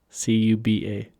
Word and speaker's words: Cuba: gooding jr cuba yeah c-u-b-a how do you pronounce that cuba yes cuba gooding jr yeah he's